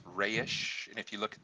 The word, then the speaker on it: Resh: hebrew letter i like people say resh but in actuality it's pronounced rayish and if you look